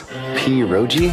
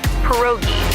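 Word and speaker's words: pierogi: Poi. Did I pronounce that right? It's pronounced perogi. A tasty dish like dumplings.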